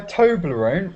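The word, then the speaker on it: Toblerone: So now on my toblone. What does Toblone sound like? on my tobler. Okay, I'll tell you if you you don't know. Yeah, toblone rhymes with alone.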